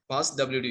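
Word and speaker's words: passwd: usernames and passwords remember pass WD you should pronounce it as pass WD it is not the password file it is pass WD okay pass WD file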